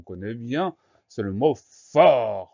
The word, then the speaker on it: fort: Le son F au début du mot s'écrit avec un F, le son O, fort, s'écrit avec un O. Ensuite, on trouve la lettre R pour avoir le son R, fort. Et on a une lettre muette à la fin, c'est le petit t.